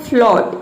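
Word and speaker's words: float: यदि ओ के बाद ए आ जाए तो ए जो है वह साइलेंट रहता है। जैसे कि देखिए, यहाँ पे है फ्लॉट, इसमें ओ के बाद ए आया है तो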